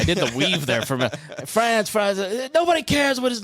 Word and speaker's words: Franz: You can say it either way, but I'm from we have an Appalachian root, so it's Franz.